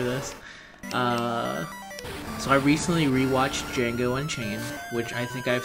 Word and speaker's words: Django: and Jew Django and I pronounce the D even though the D is silent Django there's a there's a